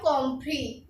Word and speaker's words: compris: तो इसको बोलेंगे हम कॉम्प्री। हमने एस को इंक्लूड नहीं किया, तो इसीलिए ऐसे वर्ड हैं ये जिन्हें हम प्रोनाउंस नहीं करते। कॉम्प्री, कॉम्प्री में हमने एस को बोला नहीं बोला, तो इसको प्रोनाउंस करेंगे कॉम्प्री।